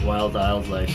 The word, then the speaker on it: Wildildlife: But it's just pronounced Wildlife.